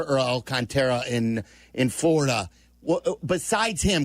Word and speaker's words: Alcantara: It is Alcantara. You had it right the first time.